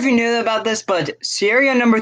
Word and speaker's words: Sierra: over this engine, and he can't pronounce the word Sierra correctly either. It's just Sierra 3. He always pronounces it as Sahira.